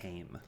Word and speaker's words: Haim: Gone, Haim album, the Booksmart soundtrack, Mulan It's pronounced soundtrack, Haim.